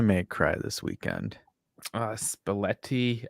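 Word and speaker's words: Spalletti: cry this weekend uh spaletti uh say it rhymes with spaghetti but it sounds spaghetti but right all right translation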